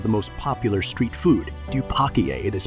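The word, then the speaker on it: 떡볶이: recipe versions of the most popular street food dupak it is pronounced roughly like like dobak is one of the most popular and it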